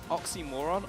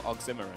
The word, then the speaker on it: oxymoron: Is it oxymoron or oxymoron? Oxymoron. You've got the emphasis on the wrong syllable there, I reckon. That's... My English teacher always said if you say oxymoron, you're a moron, so...